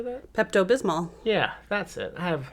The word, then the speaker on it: Pepto Bismol: pink medicine right how do you say that Pepto Bismol yeah that's it I have I don't say